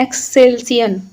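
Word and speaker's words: Excelsior: एक्सल्सियन गेसर देखो गेसर का जो संबंध होता है वह वास्तव में ज्वालामुखी क्रिया से संबंधित होता है।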